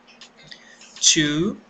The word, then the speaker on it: two: a um numeral 1 two que tem a mesma pronúncia da preposição tio e da palavra tio também é a mesma pronúncia apenas da escrita que é diferente então nós pronunciamos a onu o numeral tio tocando a pontinha da língua no céu da boca call u u nós